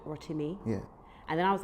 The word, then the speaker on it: Rotimi: It's it's Rotimi.